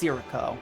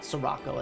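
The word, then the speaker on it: Cierzo: corpse to incubate its eggs okay so it's pronounced sirico in this not sorocco as I've been saying it yes but as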